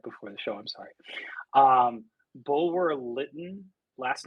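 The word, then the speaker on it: Bulwer-Lytton: Bulwer Lytton.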